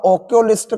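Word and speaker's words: oculist: almost भी यही होता अब ऑकुलिस्ट का जो उच्चारण है मैंने कल भी बताया था बड़े आ से आम होता सवर अगर उच्चारण है तो ए नहीं एन ऑकुलिस्ट होगा अगर लगाई है आपने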